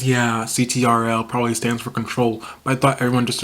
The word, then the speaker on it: Ctrl: first album well the album prior to SOS control yeah that's how you pronounce it when everyone didn't know about Scissors because I was an original fan y'all weren't I used to pronounce it citro but then when I was helping some kid